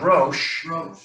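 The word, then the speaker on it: ראש: that one, and then This is the aleph, aleph, Sheen. and the sheen, and so that's pronounced rosh.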